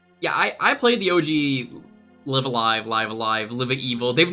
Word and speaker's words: Live A Live: stream when it happens I think I've heard that live alive is the correct pronunciation but it doesn't matter